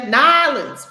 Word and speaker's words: New Orleans: new orleans new orleans or how they say it down there nylons welcome to nylons they call it nylons it's all one word smashed together so you're going we